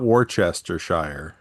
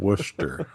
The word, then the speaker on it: Worcester: Not Wararchshire, Mass, but Worcester.